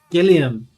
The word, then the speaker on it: Gilliam: Oh, Gilliam. Well, I'm sorry I've been pronouncing it wrong so much. I didn't even think of it like Terry Gilliam.